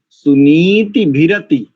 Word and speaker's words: सुनीतिभिरति: नयथा सुनीति, सुनीति, सुनीति भिरति, नीति, क्योंकि नकार में इकार दीर्घ है, तो इसका उच्चारण कैसे होता है, सुनीति भिरति।